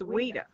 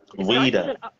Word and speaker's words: Oeida: And then I never told you how to pronounce my name. It's Oeida. Oeida. Yes, it starts with an O, but it's Oeida. It's French.